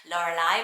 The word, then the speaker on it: Lorelei: and i was like how do you pronounce that a bit like um hermione in harry potter laura lie but it's a mermaid